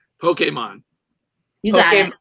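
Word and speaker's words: Pokémon: Pokemon, yeah. All right. Well, it was drilled into us. It's Pokemon. More of an A sound. Pokemon. Pokemon. So, A. Pokemon. More of an A. Pokemon.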